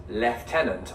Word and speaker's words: lieutenant: remember ever pronouncing this the British way of lieutenant. I've always said, I think, probably not, lieutenant. Me too. You know who says lieutenant? Who? Poldark. Does he? Yes. But of course I say lieutenant, so...